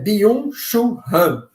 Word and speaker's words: Byung-Chul Han: Chamado, se eu pronunciar errado, tá, gente? Que eu não entendo nada de coreano, né? Byung-Chul Han, né?